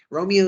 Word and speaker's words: Romeo: Romeo is described as very gloomy and melancholy. His name is Romeo, rhymes with woe, which means sadness.